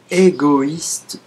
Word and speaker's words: égoïste: On prononce bien le I. Égoïste. I. Égoïste. On ne l'a pas prononcé égoïste. Wa. Ça n'a pas été prononcé wa. On l'a prononcé indépendamment du I. Donc c'est comme si on a cassé cette syllabe qui est wa en O plus I.